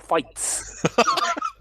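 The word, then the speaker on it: Fightz: That's not Orlando Championship Fights with a Z to face their cruiserweight champion Johnny Flips. The Z is silent.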